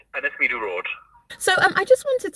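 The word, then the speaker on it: Ynysmeudwy: It's Yinsimud.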